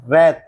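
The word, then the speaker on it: wrath: लोहा press world संसार W silent रैथ क्रोध रैप लपेटना रैक तोड़ना टूटा हुआ याद रखें रिमेंबर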